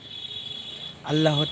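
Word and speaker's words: أَنْ لَا: হামজা লাম জবর আল নুন উচ্চারিত হবে না লামকে ধরবে হামজা লাম জবর আল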